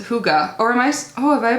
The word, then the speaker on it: hygge: box limited edition hello Hyuga and as this Hyuga equals happy and says nothing says you time more than the Danish okay it's Danish Danish concept of Hugo pronounced hygge or Anais Oh have